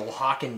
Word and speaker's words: Oaxacan: got like Kiki written all over it the wakan dead so for those that are like that's not how it's spelled this is a it's a Spanish word